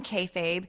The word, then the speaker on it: kayfabe: I was saying K. But it's K A Y. K A Y F A B E.